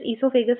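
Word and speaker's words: oesophagus: So some of them type this esophagus as starting letter O. It can also start with the O or else directly from the E. Actually O is silent.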